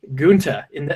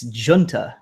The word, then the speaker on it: Giunta: have blank uh G in is that's another name that am I pronouncing that right your uh your mic is muted there we go I said it's it's Italian it's Jun Jun excuse me excuse me